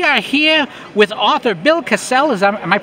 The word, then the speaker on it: Kassel: here with author Bill Cassell is Amaya pronouncing that right hassle castle castle like a like the medieval castle where the King lives and he has a